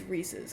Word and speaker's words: Reese's: Uh, people in my state say Reesei Cup and it pisses me off. I used to say it too and then I realized how to pronounce it. It's Reese's. It's It's Reese's Cup.